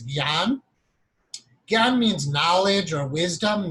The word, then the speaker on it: jnana: or in the West, J-N-A-N-A, which is such a wrong way to spell it or pronounce it. It's not jnana. In Sanskrit, it's gyan.